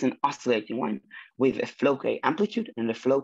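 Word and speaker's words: Floquet: is using something called flow K field. I'm almost certain that T is silent because this is French, but if someone knows better, feel free to correct me.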